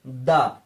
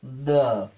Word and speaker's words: the: vowel পাওয়া যায়নি অতএব টি এইচ ই এর উচ্চারণ হবে দা এটা অনেকে এরকমও বলে থাকে দা দা তো টি এইচ ই দা পারফিউম দুই